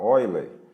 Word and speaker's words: Euler: tá ou então também nós podemos falar Oi Lê tá a pronúncia correta mas isso é é de língua para língua tá bom então a